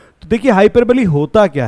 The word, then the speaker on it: hyperbole: figure of speech में हाइपर बली जी हां बहुत सारे लोग इसका उच्चारण जो है हाइपर बोल भी करते हैं लेकिन वह गलत होता है इसका सही जो प्रोनंसिएशन है वह होगा हाइपर बली तो आज हम यहां